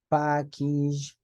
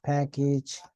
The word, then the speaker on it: package: more than two syllables then the a is pronounced like e so you see message yes message so you say package yes message package yes and then we